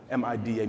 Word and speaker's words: MIDA: It's two syllables. It's easy. It's 4 letters.